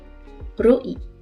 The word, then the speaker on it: ro'i: Remarquez l'accent glottal entre le O et le I de tapoi et de roi. Indispensable ici pour marquer le coup de glotte et éviter de prononcer oi comme une diphtongue. Sinon, roi, prononcé d'une seule émission de voix, désigne une espèce de poisson.